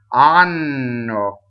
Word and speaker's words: hanno: Anno. Okay, so anno means anus. So please, if you do nothing else right in this aria, please double the N. Anno.